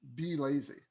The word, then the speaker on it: Blazy: really small one um be lazy that's basically how you pronounce it and um a lot